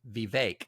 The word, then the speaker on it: Vivek: It's pronounced Vivek, like cake, and I have to keep reminding myself.